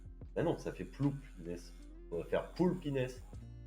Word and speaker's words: Inès: Quand on pin, quand on prononce mon pseudo. Je suis si triste. Mais non, c'est Inès.